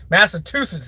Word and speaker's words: Massachusetts: here chicka Massachusetts for everybody said I said it wrong Massachusetts is how it should be said massachus it sounds stupid